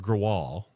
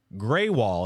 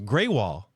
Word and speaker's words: Greywall: was getting UPS like I was calling it gral yeah because that's what it looks like whatever I said how do you pronounce grall Hall at 224 in Lancing Michigan and it came back greywall and it spelled out gr a y w